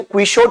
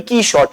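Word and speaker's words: Quichotte: लेकिन जो इसके राइटर हैं उन्होंने खुद कहा है कि इसका सही प्रोनाउंसिएशन क्वीश नहीं है बल्कि की शॉट है।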